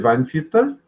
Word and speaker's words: Weinviertel: Proszę Państwa, degustacja 12 Grünerów z Weinviertel wraz z Managing Director of Wine Committee Weinviertel. Tak? Did I pronounce it well?